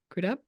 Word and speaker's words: Crudup: crup how do you say his last name crudup I know uh won the um won the